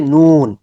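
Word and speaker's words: نون: উপরে একটা নক্তা নুন নুন নুনের মাখরাজ হচ্ছে যেহবার আগা উপরের দাঁতের মারির গোড়ার থেকে একটু উপরে মারির দাতের গোড়ার একটু উপরে লাগবে নোট গুল হয়ে যাবে ন ঠিক আছে তারপর আমরা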